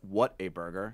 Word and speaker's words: Whataburger: water burger in Texas it's really pronounced what a burger yes but we all